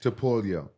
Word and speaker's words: Topuria: Topuria.